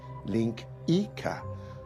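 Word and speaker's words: linguiça: port Portuguese national dish it's spelled langua but it's pronounced Linka which is probably why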